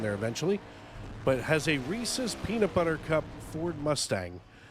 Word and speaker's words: Reese's: I don't want to hear Reese's. It's not a thing unless you just can't pronounce the word. It's Reese's.